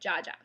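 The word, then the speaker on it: dziadzia: grandpa my dad's side has always been called Jaa which is actually polish for grandpa um it's actually spelled DZ a DZ a and it's pronounced like j a j a Jaa uh so what do you call the wield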